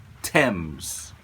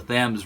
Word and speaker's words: Thames: pronounce his last name, because of the Thames River in England, which Americans love pronouncing the Thames River. Tell me how to get to the Thames River. I do declare, it's called the Thames.